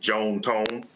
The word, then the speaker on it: John Tom: They were Southern from Mississippi, so they pronounced it Joan Tone. But yes, John Tom is his first and middle name.